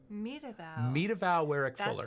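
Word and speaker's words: Meta Vaux Warrick Fuller: But the only reason I'm doing this is I had trouble with the pronunciation of her name as well, and I just want to do it justice and get it right because I researched it. It is Medavow. Medavow Werrick Fuller.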